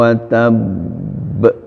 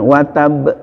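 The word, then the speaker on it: وَتَبَّ: ada di ilhami Ungu watab watab ini jangan wattab itu salah nah termasuk yg labil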